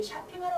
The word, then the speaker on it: shopping: 근데 보통 우리 쇼핑하러 갈 때 보통 몰, 쇼핑몰 이렇게 얘기를 많이 해요. 자, 그러면은 쇼핑몰 이거를 쇼핑하시지요. 쇼핑하지 마세요. 자, 오가 자음과 자음 사이에 들어갔을 때는 주로 아 발음을 내요.